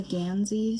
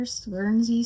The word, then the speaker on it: guernsey: This is the I think I said the name wrong last time. Probably put it on the screen, but it's a Ganszy sweater. Gernzy sweater sock I'm pretty sure by